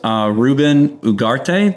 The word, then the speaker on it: Ruben Ugarte: Today's episode, we have a special guest in the world of home service, Ruben Ugarte. Did I pronounce that correctly?